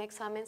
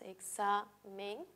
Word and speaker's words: examen: ejemplo la palabra examen si la separamos en sílabas examen sabemos que la equis entre dos vocales siempre se si la vea con la segunda y si reconocemos la sílaba tónica la sílaba tónica en este caso va a ser sa ahora cuál de las